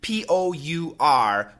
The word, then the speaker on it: pour: The next word, P-O-U-R, pour me some milk, pour me a glass of water, as far as I know, almost always sounds like poor. Like P-O-R-E, okay? So poor basically has one pronunciation.